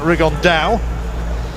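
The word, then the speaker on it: Rigondeaux: three weeks as he's correctly pronounced with the uh the Spanish accent rig on Dao two absolute Geniuses but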